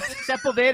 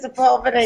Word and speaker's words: Sepulveda: We pronounce it Sepulveda here. I'm from Florida. Sepulveda. That's always the way they pronounce it first, Sepulveda, but it's actually on Sepulveda. And it's kind of, right there along the 405.